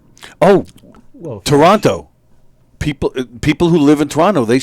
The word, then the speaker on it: Toronto: leading up to that Toronto they they do not pronounce the T the second T right the first tea